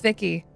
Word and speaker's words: Vicky: And then other people on the other line are like, oh, Nikki, or oh, Becky, or anything else that has the same sound at the end. And it's just like, oh, no, it's Vicky. Like, it's like Victoria.